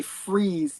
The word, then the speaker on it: Fries: I like the fact that later on his name is Victor and it's actually freeze the way they pronounce it, right?